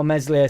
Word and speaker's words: Meslier: shout out to all my meslier silent s haters this Keeper's distribution is